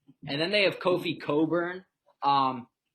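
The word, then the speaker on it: Cockburn: then they have kofi coburn um his name looks like it's pronounced the other way but it's not robbie stop smirking guys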